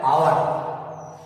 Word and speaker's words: hour: इसी के दूसरे भेद में देख लीजिए, जैसे HOUR, ये हिंदी में कहा जाता है आवर।